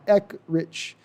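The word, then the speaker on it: Eckrich: since Jason told you my last name is pronounced like the Sausage Company uh E rich okay E rich I I'm not going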